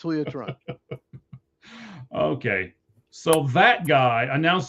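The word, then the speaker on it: Julio Teherán: You can keep mispronouncing if you want, but it's Julio Tehran.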